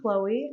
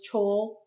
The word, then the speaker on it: Chloe: oh yeah CH R also you may hear me referred to as chol uh it's just a mispronunciation of my name that my friends thought was funny good distinction it good